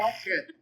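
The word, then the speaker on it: ח: You gotta clear your throat nice and strong when you say it. The het.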